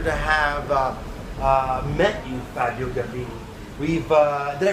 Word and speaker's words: Gambini: I don't know how to describe this night, but what an absolute pleasure to have met you, Fabio Gambini. Did I pronounce it correctly?